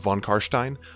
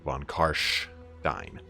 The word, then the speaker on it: von Carstein: von costs died apparently according to the way Germans pronounce it it is supposed to be von Kahr SH dine um if I wanted